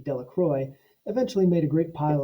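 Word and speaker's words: Delacroix: dickie de la quad the villagers pronounced his name de la croix eventually made a great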